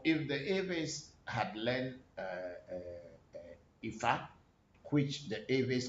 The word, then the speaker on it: Ifa: So if the Aves had learned Ifa, which the Aves call today Afa, and the Yoruba words had been a little bit adulterated to suit our tongue, how we can pronounce them.